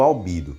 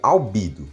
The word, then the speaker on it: Albedo: pronúncia do nome do Albedo. Ele fala que é assim, que em WAF, no idioma original, onde ele é pronunciado como Albedo. Só que em Omniverse é mudada a pronúncia para Albedo.